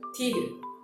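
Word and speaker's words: 디귿: Tigen. Yeah. Tigen. So this is similar like the romanization of D, but also have a hint of T sound as well.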